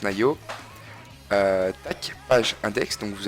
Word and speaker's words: Naio: Tac, on tombait sur le forum Nayo, donc N-A-I-O bien entendu, comme ça se prononce, Nayo.